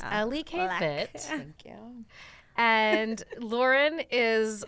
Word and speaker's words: LEKfit: K fit it's not Le fit it's not Le fit it's Ellie kfit thank you and Lauren